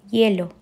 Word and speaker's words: hielo: Porque a sílaba tônica, né, a parte mais forte está lá no E, hielo. Então, hielo.